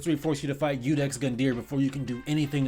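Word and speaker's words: Iudex Gundyr: Udex Gundier. Oh, I was right. Huh, the more you know. Anyways, games like Dark Souls 3I force you to fight Udex Gundier before you can do anything in the game,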